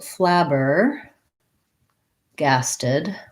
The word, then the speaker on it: flabbergasted: So we have first syllable stress, flabber, and then a little secondary stress on the gas syllable. So it sounds like the word lab or flab has the black cat vowel.